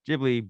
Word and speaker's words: Ghibli: explanation about the word ghibli being correctly pronounced with a hard g like give but in japanese there's